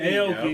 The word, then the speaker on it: Aoki: Aoki.